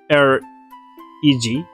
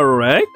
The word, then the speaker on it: Reg: Like R-E-G.